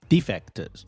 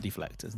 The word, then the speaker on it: defectors: Defectors or deflectors. Defectors. Not deflectors.